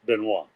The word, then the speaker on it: Benoist: accent over the eye in order to be pronounced benois okay wow history yeah I'm looking at the